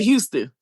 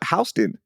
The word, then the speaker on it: Houston: We say umble, but we say Houston. They are so right. Oh, she got us with that one. She got us with that one because up in Northeast they call it Hston, right? Like it's Hston Street.